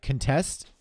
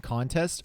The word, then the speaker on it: contest: can say contest sometimes that's just simply a slightly different way of saying contest like contest and contest are two different words and they're pronounced slightly differently yeah one is a verb one is a noun exactly it's called back shifting